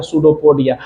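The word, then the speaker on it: स्यूडोपोडिया: सूडोपोडिया। अभी यहां पे फूड को घेर रहा है तो इसको देख लो सूडोपोडिया बोला है। पी साइलेंट होता है।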